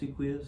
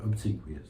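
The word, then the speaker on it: obsequious: when they're being um Obquous, how do you say that word? Obsequous. Obsequous. That's how you say it.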